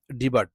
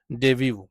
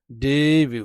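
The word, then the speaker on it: debut: টু আমরা অনেকেই এইটার উচ্চারণটা আমরা করে থাকি ডিবার্ট না সঠিক উচ্চারণ হবে ডেভিউ ডেভিউ ডেভিউ ডেভিউ ডেভিউ ঠিক আছে উচ্চারণটা একটু কঠিন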